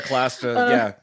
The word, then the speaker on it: Clastres: through, I'm going to say this wrong, so Clastres' work, is that how you say it? Pierre Clastres, Yeah.